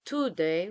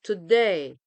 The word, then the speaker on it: today: a stress syllable for example today we don't say today we say today so the stress the strong one the emphasized one is the second syllable today then we have the